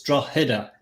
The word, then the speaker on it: Drogheda: The G is silent, believe it or not. So it's like a H. It's Drogheda. Drogheda.